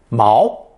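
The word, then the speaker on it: 锚: for metal so an anchor is a second tone Mao Mao foreign that means it's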